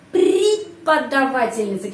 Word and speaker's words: Преподавательница: Kalau O tidak mendapat penekanan, bacanya A. Преподавательница.